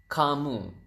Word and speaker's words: kamu: You is kamu. So ka and mu. So you have kamu.